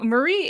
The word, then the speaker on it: Marie: We had no issues with my first name, but it was a bit confusing that I actually pronounced the E the same way as the Japanese.